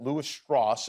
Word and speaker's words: Lewis Strauss: character is a a real person deceased now L stoss is is is how you pronounce his I pronounce it wrong earlier he